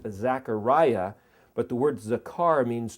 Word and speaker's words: Zechariah: The word Zechariah, it's actually in English pronounced Zachariah, but the word Zechar means to remember.